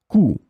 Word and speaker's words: coût: In this lesson, we will see together three words that are written differently but pronounced the same way. Coup, coup, coup.